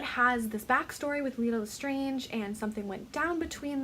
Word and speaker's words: Lestrange: of a sudden it's Lestrange. Bellatrix Lestrange, and it's I believe, a French originating name, so Lestrange, and they made a big point in this movie to pronounce it specifically Lestrange based off of how